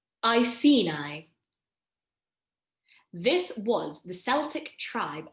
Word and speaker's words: Iceni: Iceni.